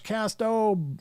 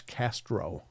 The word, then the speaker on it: Casto: See, Josh, I'm doing my best to get the correct pronunciation of your name out there. Everybody calls him Josh Castro. And I got to admit, I did too. That R just kind of blends in there naturally.